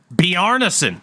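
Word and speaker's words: Bjarnason: how do you say your last name Carson be arneson like he's Norwegian sweet shout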